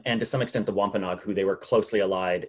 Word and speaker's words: Wampanoag: massachusetts people um and to some extent the wampanoag who they were closely allied and uh uh very culturally related to um that's how you pronounce that term wampanog um it's a word that you probably will